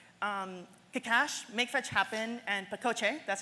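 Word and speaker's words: pacote: known as shrink-wrapped akash make fetch happen and Paco J that's how you pronounce that word are three standalone external libraries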